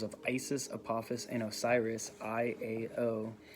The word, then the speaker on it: IAO: It is interesting to note that in the Notaricon, the abbreviation made of the first letters of Isis, Apophis, and Osiris, I-A-O, pronounced Iao, Iao, forms the name of the supreme god of the Gnostics, an early sect of Christianity.